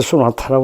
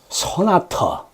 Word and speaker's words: 소나타: 여기서 뮤지션을 빡치게 말입니다 한국 사람들이 쏘나타라고 그러는데 도대체 쏘나타가 뭔지 소나타 소나타 발음이 소나토야 소나타 소나타 근데 너 자동차 뭐냐